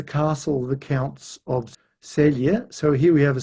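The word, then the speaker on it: Celje: And this is the castle of the counts of Selia. So here we have a Slavic language where the C's are pronounced S ts sia.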